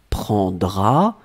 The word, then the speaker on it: prendras: You don't pronounce the S. Tu prendras.